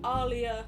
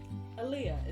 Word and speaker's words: Aaliyah: Yours sincerely, Alia, Aaliyah. Aaliyah is the correct pronunciation, by the way.